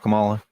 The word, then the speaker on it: Kamala: Just anything but Kamala, dude. Why? What's so bad about Kamala? Kamala, by the way.